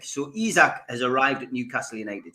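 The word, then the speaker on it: Isak: the pronunciation right uh mozar's been on all week going it's izak it's izak and not isaac so izak has arrived at newcastle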